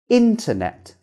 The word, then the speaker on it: internet: If the T comes after N, regardless of the position, the T sound is gone and not pronounced.